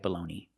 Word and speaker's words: bologna: It's spelled differently, but it has the same pronunciation.